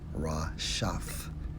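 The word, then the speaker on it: רשת: Strong's H 7568, pronounced as Rashaf, which means what?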